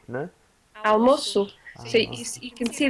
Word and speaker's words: almoço: Okay, that makes it you have to pronounce it as S, almoço. If it didn't have that, you would say almoco.